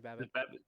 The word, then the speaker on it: Babbitt: First off, we're going to be talking about Ashley Babbitt, and I think I'm pronouncing it right. Am I? Yeah, it's Ashley Babbitt.